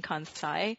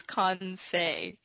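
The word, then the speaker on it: Kansei: from japan and i was uh i was mispronouncing it at this other conference i was saying kansai and it was so funny because i'm japanese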